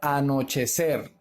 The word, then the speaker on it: anochecer: a ver la palabra anochecer la separamos en sílaba a no que ser ya su mayor fuerza de voz en la última sílaba por lo tanto es